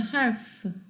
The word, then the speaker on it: half: Letter L in half is silent라고 그랬어요. help라고 안 하죠. half.